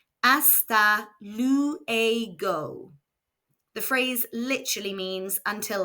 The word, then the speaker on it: Hasta luego: you later, which is Hasta luego. Let's hear it again. Hasta luego. Remember that the letter H is silent in Spanish and the letter U makes an oo sound. Hasta luego.